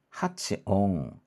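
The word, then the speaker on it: 発音: 근데 여기서는 네. 오 발음이 나올 겁니다. 오 발음. 음. 그래서 한번 볼게요. 하츠옹.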